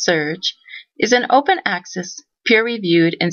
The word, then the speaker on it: SRJ: SRJ, pronounced SURGE, is an open-access, peer-reviewed, and student-governed publication.